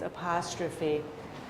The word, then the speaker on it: apostrophe: This word is spelled with PH, but PH is pronounced F in this case, apostrophe.